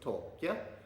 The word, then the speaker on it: Taake: Like, I used to think from my knowledge of German, the pronunciation was TAAKE, or some people used to say TAAKE, and I heard TAAKE. But actually, the correct pronunciation, when I looked it up on Google Translate, is TAAKE.